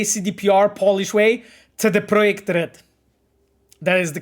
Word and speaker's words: CD Projekt Red: It's not CD Projekt Red, because it's a Centrum Dystrybucji Projekt Red. That's from where the name comes from, you know.